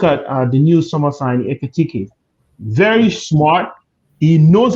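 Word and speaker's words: Ekitiké: anytime you need the ball in the middle where Darwin Nunes would have been, now we have someone called Ekitike. You can pronounce it with me, Ekitike.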